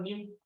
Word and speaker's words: nu: So I think it's new. That's how it's pronounced. Greek letter new.